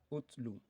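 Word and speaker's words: اُتْلُ: Okay, this is the command over here, which is pronounced as utlu.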